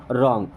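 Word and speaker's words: wrong: मीस होता है गलत अब देखिए यहां पर डब्लू होता है साइलेंट एंड इसे पढ़ते हैं रंग ओके डब्लू के बाद जब भी आर आएगा तो हमेशा डब्लू साइलेंट ही होता है यू आर रंग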